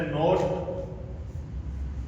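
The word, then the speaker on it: knot: इसी तरह नोट के एन ओ टी नोट ये जो नोट होता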